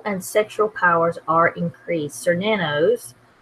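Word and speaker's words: Cernunnos: sexual powers are increased sore nanos that tells you how it's pronounced also known as her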